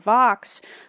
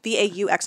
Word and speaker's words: Vaux: Done V-A-U-X. I always thought it was Vaux, but it is Vaux, I have learned. That's because the British like to pronounce all the letters.